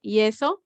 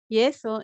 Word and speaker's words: yeso: if you notice that that y is pronounced like a an i e you say yeso yeso in english is plaster